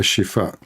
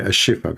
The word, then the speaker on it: Shifa: bombing of a hospital it's called a shifa in English you say aifa because you cannot pronounce it correctly so if we search